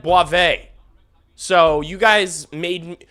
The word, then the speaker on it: Boisvert: They all told me, they said it's Boisvert. It's not Boisvert. He said Boivin.